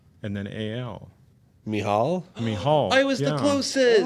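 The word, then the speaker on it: Michal: he would say me the CH is the same sound that Hanukkah is the CH of Hanukkah so H and then a mial mial I was the closest oh interesting y that is mial yeah it's a cool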